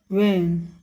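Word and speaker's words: when: है, तो इसमें हम WH वाले शब्द जैसे व्हाट, व्हेन, व्हाई में H का उच्चारण अक्सर नहीं किया जाता है।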